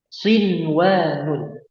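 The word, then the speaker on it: صنوان: Kemudian yang terakhir sinwanun. Nah, cara bacanya gimana?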